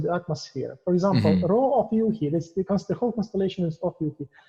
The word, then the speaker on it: Rho Ophiuchi: Yeah, it's Rho Ophiuchi. Ophiuchi. Okay. Yeah. I've like seen people's different pronunciation.